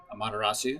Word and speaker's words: Amaterasu: or as many of us americans say them amaterasu tsukiomi and susano more than likely you've heard